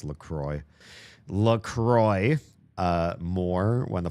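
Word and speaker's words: LaCroix: Kind of appreciate Lacro. Oh, sorry. They're pronounced Lroy.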